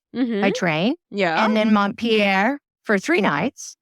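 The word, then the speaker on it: Montpellier: for a night by train yeah and then mon Pier for three nights right with a train yeah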